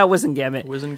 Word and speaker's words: Wizengamot: How do you pronounce that word? Wizengamot? Yeah, Wizengamot.